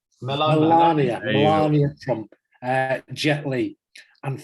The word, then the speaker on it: Melania: Channing Tatum, the actor, is it Melania Trump or Melanie Trump? How do you pronounce it? Melania.